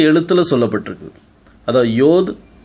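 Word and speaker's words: יוד: பாருங்கள், மாடர்ன் ஹீப்ரூவில் யோத், ஹே, வாவ், ஹேன்னு சொல்லுவாங்க. ஆனால் ஏன்ஷியன் ஹீப்ரூவில் நீங்கள் பார்த்தீங்கன்னா யாத், ஹே, வாவ், ஹே அப்படின்னு சொல்லுவாங்க.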